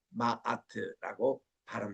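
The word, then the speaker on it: Ma'at: MAT 마아트라고 발음을 합니다.이 마아트가 세상에 다스리는 그런 원리.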